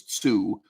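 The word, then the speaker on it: 通: If you wonder why I'm mispronouncing 2 as Tsu, it's the actual title of the game.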